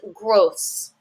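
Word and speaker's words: grosse: gross l a gross so again listen to this pronounce iation the masculine is grow the feminine is gross mu mu if I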